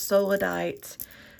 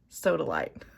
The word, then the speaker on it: sodalite: It's solidite and little wooden beads to put oils on. And sodalite. I think I had an extra syllable there.